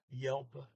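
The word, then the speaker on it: hjelpe: help die you now yelp is spelt h j e l p e so when you're reading it it's easy to understand it means help but because the h is silent here uh when you hear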